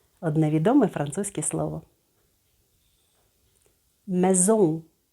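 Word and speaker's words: maison: одне відомий французький слово мезон не зом а і дає нам е с між голосними дає нам з Ом в кінці слова носовий звук мезол молодці у вас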